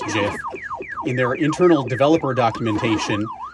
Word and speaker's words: GIF: Like, the creator of it has repeatedly said it's pronounced Jif in their internal developer